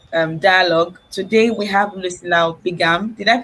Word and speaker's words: Bigham: Today we have Lucilla Bigham. Did I pronounce it well, ma'am? Yes, you did. Lucilla Bigham.